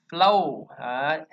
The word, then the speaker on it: flow: Chúng ta nhớ ha, tiếng Anh nó không có âm O đâu nha, nó chỉ có âm O thôi. Flow, O, flow.